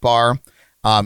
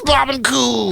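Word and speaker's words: Barbancourt: a wonderful bar it's a Caribbean restaurant SL bar um it's family-owned and operated so like everybody that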